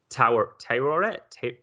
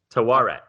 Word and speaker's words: Taweret: Taweret. Yeah. Okay. And that's I looked it up. Everyone's pronouncing it differently. It's can also be spelled Taur. So I think Taweret is like the closest.